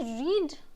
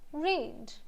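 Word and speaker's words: read: That's लीड जैसे कि रीड एंड रीड रीड एंड रेड। सो अभी रीड एंड रेड spelling same है, pronunciation different है।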